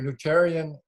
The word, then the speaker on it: Nutritarian: Okay, let's talk about your nutritarian.